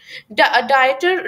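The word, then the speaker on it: डायोप्टर: डायटर डायपी silent है।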